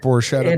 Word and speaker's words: Borchetta: borchetta bourbon and i'm gonna use your brother's pronunciation but it's borschetta bourbon right it is it is technically this is foreshadow bourbon yes i am as you pointed out my brothers stopped poor